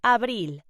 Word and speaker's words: abril: April in Spanish is pronounced abril.